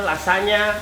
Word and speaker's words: lasagna: Kalau lasanya, tulisannya lasagna, bacanya lasanya. Oke.